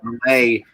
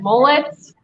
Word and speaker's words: Millay: So several ways I've gotten throughout my youth has been mullets, milliets, millets. Just it goes on.